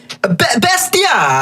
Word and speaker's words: Bestia: You gotta say it like Bestia. It's a Bestia.